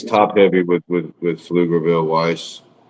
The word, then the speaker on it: Pflugerville: It is P F It's It's got a P in front of field. Oh my god. Yep. Pflugerville For people that don't understand, Pflugerville is spelled P F to get Yeah. P F l u g e r v i l l e Pflugerville. So, the P is not there, but it's there when you write it.